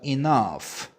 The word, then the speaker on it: enough: down into 이렇게 돼요 자 그다음에 충분한 뭐죠 enough enough enough 자 여러분도 아셔야 될게 gh 때려는 어 fe 발음이 나기도 합니다 F 발음 그죠 fe 발음이